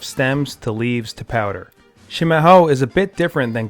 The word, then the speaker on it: Chimarrão: Chimarrão, pronounced Chimarrão, is the Portuguese word for traditional yerba mate.